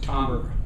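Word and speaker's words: timbre: spelled t i m b r e it's pronounced tber and it it means the very nature and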